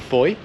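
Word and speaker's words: Fowey: a small town of foye which has a strange spelling i'll pop it on the screen but it does not sound how it's spelled so we're just going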